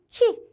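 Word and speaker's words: 木: 음독과 훈독 한번 확인해 보시는데 목구, 목구 소리 나는 대로 발음해서 한국어랑 일본어랑 비슷해요. 그죠? 목구, 나무라고 할 때는 키 되겠습니다.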